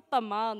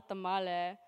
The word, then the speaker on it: tamal: you're saying it wrong it's a Tamal not a tamale for the record it really depends on where you live and who you talk to oh and of course